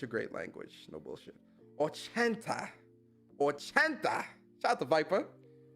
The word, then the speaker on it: ochenta: Ochenta. That's how you say it? 80, Ochenta.